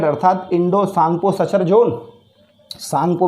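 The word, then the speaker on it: Tsangpo: सांगपो मैंने बताया था साइलेंट होता है उसमें S, और T साइलेंट होता है, इसलिए सांगपो T से लिखेंगे हम।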